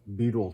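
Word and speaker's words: butyl: here is this uh Beetle tape uh b u t y l I think is how it's spelled Beetle tape it's what you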